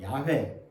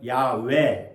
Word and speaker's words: 야훼: 예, 영어로는 제호바 이렇게 부르기도 하는데 우리말로 번역하다 보니까 또 여호와 원어적으로는 야훼 H를 무금화시키면 야외 이렇게 발음하기도 합니다.